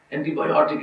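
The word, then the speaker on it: antibiotic: بایوٹک کہہ دیتے ہیں، تلفظ کا صحیح ہے، اینٹی بایوٹک ہے، کیونکہ آئی سی پر جو نون ختم ہوتے ہیں ان کا سٹیٹس جو ہے وہ پینلٹیمیٹ سیلیبر پر ہوتا ہے.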